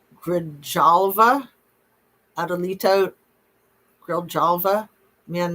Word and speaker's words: Grijalva: Adelita Grijalva. Grijalva.